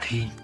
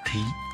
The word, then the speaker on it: thí: Chữ thí còn được đọc là thi. Thi có nghĩa là làm, thi hành. Nhưng chữ thí ở đây được đọc là thí, tức là hiến tặng.